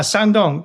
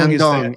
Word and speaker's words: Shandong: Help me out with the pronunciation here. Is it Shandong? Uh, Sandong. Sandong. Sandong.